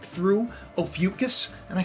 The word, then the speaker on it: Ophiuchus: Now, you know, it's pronounced Ophiuchus, by the way, Case, just in case you're watching.